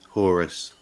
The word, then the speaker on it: Horus: Horus? Horus.